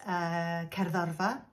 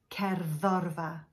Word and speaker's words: cerddorfa: A longer word like, say, orchestra in Welsh is cerddorfa. Penultimate, cerddorfa, cerddorfa.